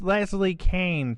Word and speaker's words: Leslie Kean: and uh or you could Google her it's pronounced Leslie Kane so you know even though it's spelled k